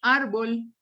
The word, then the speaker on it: árbol: dólar si los dólar no digo árbol sino árbol no digo cáncer sino cáncer ya estoy notando fonéticamente y auditivamente que la sílaba tónica va sobre la antepenúltima silva sobre la penúltima sílaba pero penúltima si lo